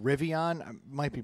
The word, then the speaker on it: Rivian: But there's a company that last year, it's called Rivian. I might be pronouncing that wrong, but that doesn't sound like Brendan.